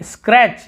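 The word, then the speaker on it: scratch: फिर देखिए स्क्रैच, यहाँ पर भी टी को नहीं पढ़े, स्क्रैच यानी खरोचना।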